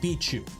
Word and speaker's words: BIQU: race car beat you I've been told it's pronounced bichu not BQ it's B2 that's what